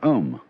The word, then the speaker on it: Om: mantras is of course the sound ohm that sound is used because if you spell it out a you m it runs from the back of your throat to your lips and therefore it contains the whole range of the voice and for that reason